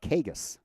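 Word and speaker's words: Cagas: So two and0 to Kagas. C A G- A S. It's how you spell the last name, but pronounce it Kagus.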